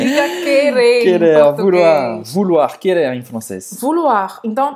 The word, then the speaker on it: vouloir: Então, ou em francês, a gente vai pronunciar U, como a letra U em português. Vu, vu, vu. Vou. E depois a gente vai ter o OI, que vai ser UA. Uá. Então vai ser vouloir.